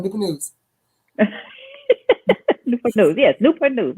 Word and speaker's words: Newport News: It's one word, Newport News.